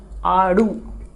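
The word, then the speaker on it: आड़ू: Aadu. It is pronounced as aadu.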